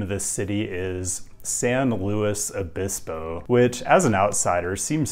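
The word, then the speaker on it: San Luis Obispo: address this right up front the way locals pronounce the name of this city is San Louis abiso which as an outsider seems strange but what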